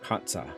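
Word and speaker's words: Caza: Kasa is Grand Valia I believe it would be pronounced kataa it's c a z zaa and I I think it would be pronounced kataa so I'm going to I'm going to pronounce it like that from now on sorry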